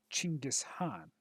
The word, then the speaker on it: Genghis Khan: first mission of the Genghis Khan campaign which my dad actually told me that uh if you go by the proper pronunciations actually uh would be chingas Han which is interesting to